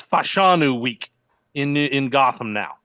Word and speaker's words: Fashanu: Jeff Jeff hold on uh how about you pronounce a last name for me the people want to hear it I think it's fashanu good there you go because I saw more